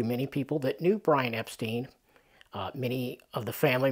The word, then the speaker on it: Epstein: everything up by saying oh you pronounced my name wrong so they said Epstein and he just went with it so officially it is Epstein so there you go